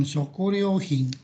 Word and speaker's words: 食料品: Berikut bacanya 食料品、 shokuryohin ya.